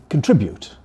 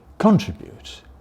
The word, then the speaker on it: contribute: Sometimes it's a matter of where the stress goes. I say to contribute. Lots of people say to contribute. So again, we asked people which they preferred of those two, and there we found age differences. Older people definitely went for contribute, whereas younger people go more and more for contribute.